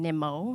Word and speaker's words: Nimmo: By the way, it's Brandon Nimmo, not Brandon. And I said, well, does he know he's not pronouncing his name correctly?